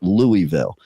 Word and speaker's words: Louisville: in in Louisville Kentucky I I keep trying to say it right I think I'm saying it right now but probably not uh like because I grew up with Louisville but I have to learn how to put that invisible L into the word okay uh but the